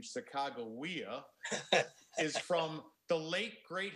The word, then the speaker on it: Sacagawea: And by the way, the pronunciation Sacagawea is from the late great historian from St.